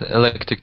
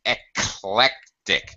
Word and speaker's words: eclectic: Yeah, I have a question about electric tastes. Excellent. Yeah. Electric tastes. I can say about anything about food. Mhm. Yeah, the About pronunciation is eclectic. It's eclectic. That's it.